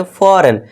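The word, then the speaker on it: foreign: जैसे कि एग्जाम्पल के लिए देखिए, अब जी के बाद क्या है, यहाँ पे एन है। ठीक है दोस्तों, जी के बाद क्या है, एन है, तो यहाँ पे हमारा क्या हो जाएगा, जी साइलेंट हो जाएगा, और इसे हम क्या पढ़ेंगे, फॉरेन।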